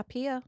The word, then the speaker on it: Pia: Yeah, Pia.